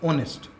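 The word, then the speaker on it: honest: देखो आप वर्ड को, ऑनेस्ट, ऑनेस्ट में पहला वर्ड क्या है, एच, लेकिन इसका प्रोनाउंसिएशन या इसका फोनेटिक साउंड क्या है, इसका फोनेटिक साउंड है ओ, और ओ हमारा साउंड कैसा होता है, वोवेल साउंड होता है।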